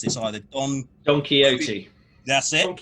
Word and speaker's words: Don Quixote: And apparently it's named after the horse in the novel, and I can't pronounce this either, Don Quixote. That's it. Don Quixote.